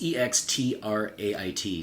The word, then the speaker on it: extrait: Like it's EXTRAIT, so it's like extrait de parfum, which is usually, refers to a very, not usually, it refers to a strong concentration.